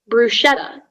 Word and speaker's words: bruschetta: your your word is bruschetta bruschetta um bruschetta bruschetta um the language of origin uh bruschetta is italian from latin michelle is there any alternate pronunciations uh yes it can be bruschetta or bruschetta rashad am i pronouncing